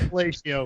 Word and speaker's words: Quadrifoglio: So car and drivers long-term Julia Quadrifoglio pronunciation check. Quadrifoglio, of course.